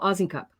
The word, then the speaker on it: Osincup: is in a cup oz is in a cup and the s the